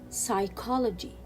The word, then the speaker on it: psychology: recite so let's read these three words with silent letter p psycho psycho psychology psychology receipt receipt and still